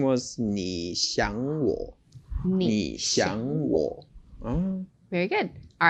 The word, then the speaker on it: 你想我: Okay, so and the pronunciation was 你想我.